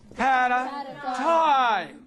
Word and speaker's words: paradigm: At the end of a word, GM combination, G is silent. Can you give me? Says paradigm.